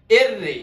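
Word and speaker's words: erre: এররে, এটারে অনেকে আররে বলে থাকে, কিন্তু আররে হবে না, এটার উচ্চারণ হবে এররে।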